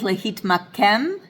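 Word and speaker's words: להתמקם: Same thing with lehitmakem. That last syllable is pronounced kem, and the second to last syllable is pronounced mak.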